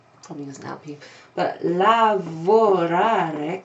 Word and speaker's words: lavorare: But lavorare così, lavorare with four syllables, that means to work.